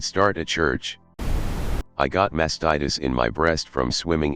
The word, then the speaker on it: mastitis: Epsom salt baths and it's pronounced mastitis not masked titties lol